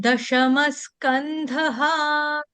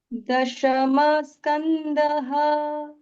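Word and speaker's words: दशमः: वाला गाओ दशम स्कंध दशम के आगे जो विसर्ग है उसका उच्चारण आधे स के साथ ही करना है। दशम स्कंध दशम स्कंध अथैत्रिम शोध्याय अथैत्रिम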